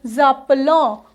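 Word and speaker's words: s'appellent: तो नू जापलों, फिर वू जापले, वू जापले। देन अपना आता है दोबारा से, यहाँ पे एस का ये हटाएंगे और यहाँ लगाएंगे जापेल, क्योंकि ENT प्रोनाउंस नहीं होता है।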